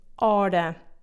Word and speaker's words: hora: The H is silent sh in Portuguese, like in the word hora.